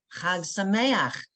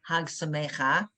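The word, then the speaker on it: חג שמח: It's never cha, like lishabeach or sameach, chag sameach. You don't say hag samecha, hag sameach, because the ending looks like this. It ends in a chet and a patach.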